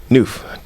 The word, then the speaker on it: Nuff: So it's just Noof for short. Noof, Yeah, for sure. It's spelled Nuff, but it's pronounced Noof. Okay.